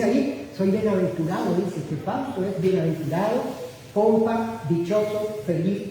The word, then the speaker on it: Fausto: Porque algunas personas como que me tildan en la U, y no va tildado en la U. Mi sueño hacía acento en la U, y yo me sentía mal, porque escuchaba muy feo. Y es sin tilde.